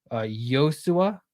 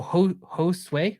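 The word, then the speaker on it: Josué: It's Spanish for Joshua. So it's Yosua. Is that how you say it? Yosua? Is that right? Correct me. No, Josue? Really? I thought I had it.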